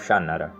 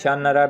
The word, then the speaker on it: Shannara: And finally, my latest pick, Terry Brooks' First King of Shannara. Now that's how I pronounce Shannara because it's Shannara, but if I'm wrong, you can correct me in the comments down below.